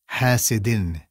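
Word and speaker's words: حاسد: An example from Surah Al-Falaq is a word which you recently studied, which is hasidin. Hasidin. Listen to the noon sound at the end.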